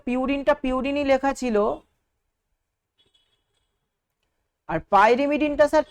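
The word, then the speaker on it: pyrimidine: পিরিমিডিন লেখা ছিল তাহলে এই যে আপনি বলছেন পাইরেমিডিন এই উচ্চারণটা এরকম কেন বলছেন? এটা হচ্ছে ইংলিশের যে প্রোনাউন্সিয়েশনটা সেটা কিন্তু পাইমিডিনই হয়। কিন্তু আমরা বাঙালিরা এই বানানটাকে কেন জানি না পিরিমিডিন লিখে ফেলেছি।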